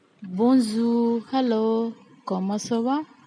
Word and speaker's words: bonjour: Hello, we say in French, bonjour, bonjour. Here, R is silent. We don't pronounce R.